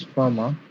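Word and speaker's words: Fermat: actually a french mathematician his name is pronounced as farmer and boss called fred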